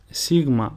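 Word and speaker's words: Σίγμα: Sigma, which is pronounced su, and the sample word is chocolata, which means chocolate. A thing to remember about the letter sigma is that it can be written in two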